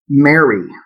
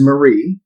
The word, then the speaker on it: Marie: pronounce my grandmother's name he called her mary her name is marie i'm sure if he